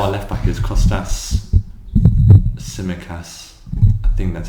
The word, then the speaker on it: Tsimikas: Now our left back is Kostas Tsimikas. I think that's how it's pronounced. Señorita. No, it's Greek. He's Greek. Why would he be Señorita? It's Greek. Sounds Spanish. No. It's like TS, but the T's silent.